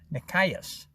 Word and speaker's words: Nikias: And his name was Nikias, with the emphasis on the second syllable, Nikias.